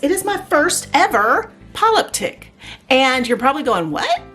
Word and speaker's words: polyptych: to say that but a five panel is a polyptic and you might hear it pronounced a little differently in different languages but that is how it's pronounced here in english so we're gonna have